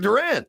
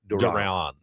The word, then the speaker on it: Duran: Yoan Duran. Duran. Duran. Duran. Okay. It's not like Duran. Duran. It's more like Don.